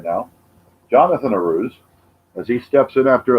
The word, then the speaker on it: Arauz: And this is a rose. A rose is how I think it's pronounced, Arauz. Maybe you can help me with that, all the fans out there watching right now. Jonathan Arauz, as he steps in